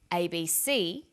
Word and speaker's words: ABC: Notice that each letter in the abbreviation is pronounced separately, but the last letter is pronounced more strongly because it carries the primary stress. So we say USA, ASAP, ABC, and TV.